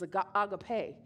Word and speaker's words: agape: It's really, the pronunciation is agape.